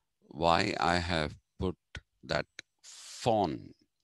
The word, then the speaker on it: von: Now, if you're wondering why I have put that von, in German, the V is pronounced fa.